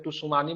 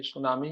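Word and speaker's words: tsunami: पहले सुनामी, सुनामी का spelling में टी साइलेंट होता है, ठीक है, इसलिए टुसुमानी मत पढ़े इसको, ये सुनामी ही होता है, जापानी शब्द है, ठीक है।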